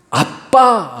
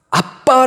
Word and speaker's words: 아빠: 수 있나요 그것이 바로 아빠 라는 개념인데 여러분 우리 나라 말하고 톡 태 희 벌이도 아악 에 바람으로 아빠라는 그 단어가 우리나라의 단어 아빠 5도 같아요 히브리 사람들의 발음으로 도 아빠의 가깝습니다 아빠 얼마나 친근한 말입니다